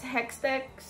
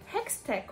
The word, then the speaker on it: Hextech: help but um realize the parallelism of what's hectex hextech why can I say it correctly how's that